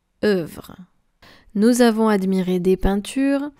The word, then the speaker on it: œuvre: A ligature is when you have two letters that are forming only one. And here we have the O and the E. Make sure to pronounce œuvre.